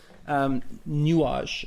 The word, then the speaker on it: Nuage: Anyway, this is a piece of Django's called Nuage, which I think is the French way. I think that's how you pronounce it.